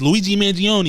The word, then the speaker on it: Luigi Mangione: let's move on let's move along um what's Luigi Manion that's how you say his name yeah yeah